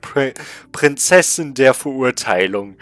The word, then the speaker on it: Prinzessin der Verurteilung: And yeah, it's called Prinzessin der Verurteilung. That's how you call it in German.